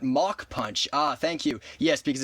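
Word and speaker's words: Mach Punch: So, I'm just going to uh pronunciation police be like match is actually pronounced mock punch.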